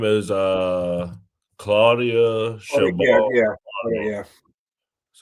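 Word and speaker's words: Claudia Sheinbaum: Her name is Claudia Chabot.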